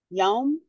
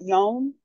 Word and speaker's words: yom: And the word that we learned was yom, and it rhymes with home. You know, I think I'm saying that right. Yom.